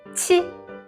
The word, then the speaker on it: qi: Next is our qi. Qi. Here you will keep your pronunciation unchanged. The airway should still be blocked, but your airflow here needs to be burst out through the obstruction.